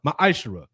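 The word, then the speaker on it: ma'aser: Means 10th in Hebrew and is pronounced ma'ashera.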